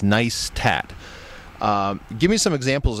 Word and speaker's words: Neistat: they they spell out they spell it out phonetically on their website and and they point it out in in their movies as nice tat um give me some